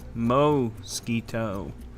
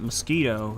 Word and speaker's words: mosquito: Mo-skeeto. It's not mosquito, it's mo-skeeto.